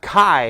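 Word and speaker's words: χ: Not the Keyblade with the Greek letter key, which is actually pronounced Kai.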